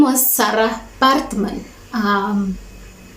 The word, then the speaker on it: Baartman: her name was Sarah partman um I'm pronouncing it like that because it's South African pronunciation so it's Batman Sarah Parkman um yeah